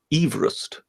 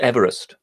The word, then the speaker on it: Everest: those episodes but technically it's it should be pronounced Everest not Everest yeah I know but yeah but but yes